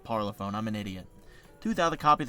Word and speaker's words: Parlophone: LP parlophone Warner.